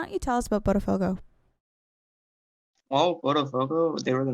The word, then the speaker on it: Botafogo: Today playing in the match best of 3, Luis from Team Flare A versus Matt of, I can't pronounce that name, Joe, sorry. Botafogo? It is Botafogo, yes.